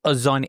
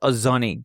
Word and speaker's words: Ozoni: And your very first food memory is Ozoni. How do I pronounce this? Ozoni.